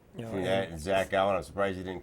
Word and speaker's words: Zach Gowen: You know, Between that and Zach Gowen, I'm surprised you didn't call Zach Gowen.